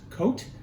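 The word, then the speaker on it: Côt: it's known as uh i think it's pronounced coat it's spelled cot uh and that's um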